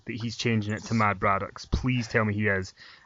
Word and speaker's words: Mad Braddox: Mad Braddox. It rhymes with Brad Maddox. That's how you can remember that.